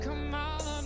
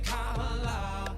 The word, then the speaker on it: Kamala: Her name is Kamala. Hey. It's not Kamala, no, her name is Kamala. Duh. Emphasize the first syllable, it's Kamala.